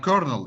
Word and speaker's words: colonel: almond it's it's pronounced almond so L is pronounced r r like kernel you know the word colonial in Arabic we call it Colonial it's written Colonial however it's pronounced kernel kernel you know Colonel Sanders his name is Colonel Sanders El Colonial